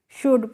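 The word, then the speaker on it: should: हैं कुड पढ़ते हैं जैसे एस एच ओ यू एल डी को शुल्ड नहीं पढ़ते हैं क्या पढ़ते हैं शुड पढ़ते हैं ऐसे ही इसको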